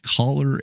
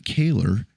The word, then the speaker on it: Kahler: And man, did he nail absolutely everything about it, except he pronounced it Kahler and not Kahler.